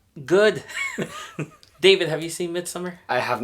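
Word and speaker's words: Midsommar: this every 90 years mid-summer or I don't know some people pronounce it mid some are I say mid summer I haven't seen minsum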